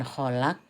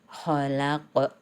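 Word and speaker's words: خَلَقَ: Sehingga bukan kholak tapi harus kholaq.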